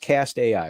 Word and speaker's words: CAST AI: that so um okay so it's it is pronounced cast AI right that's right and you all started in